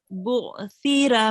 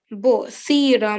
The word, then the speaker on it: بُعْثِرَ: When you touch your tongue to your upper teeth, it will be pronounced soft.